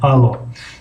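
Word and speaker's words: алло: ударение در او آمده است. پس در اینجا او را او میخونیم. الو الو الو. اگر هجای یکم رو کمی بلند تلفظ کنیم الو الو نادرست است.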